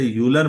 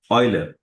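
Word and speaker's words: Euler: आप लोग इसे यूलर मत पढ़िएगा, ऑयलर। ऑयल मतलब तेल जैसे बोलते हैं ना, ऑयलर।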